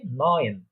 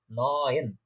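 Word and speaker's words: neun: তারপর হচ্ছে 9 বা 9 যেটা বলে থাকি আমরা বাংলাতে, সেটাকে জার্মান বা ডয়েচরা বলে থাকে নয়েন, নয়েন, নয়েন, অনেকটা মিল আছে 9 নয়েন।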